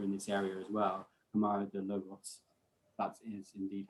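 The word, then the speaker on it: Câmara de Lobos: Camaro de Logos, that is indeed how you say it.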